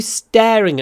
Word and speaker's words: staring: Второй интересный момент, когда надо произносить Р, в русском языке говорят, конечно, staring. Надо делать двойной звук.